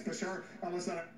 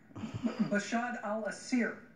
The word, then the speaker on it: Bashar al-Assad: Bashar al-Assad, I know you mispronounced his name a few times, but it's Bashar al-Assad. Bashar al-Assir was the attempt there.